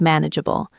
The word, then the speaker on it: manageable: Let's look at the pronunciation of manageable. It looks long but the middle is swallowed a bit. Manid. The stress is on the first syllable.